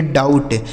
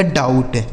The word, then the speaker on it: doubt: जैसे डी से हो गया ड, इस ओ और यू का उच्चारण आऊ, यहाँ बी साइलेंट है, टी से ट, इसे पढ़ेंगे डाउट, DOUBT, इसे पढ़ा जाएगा डाउट, ठीक है।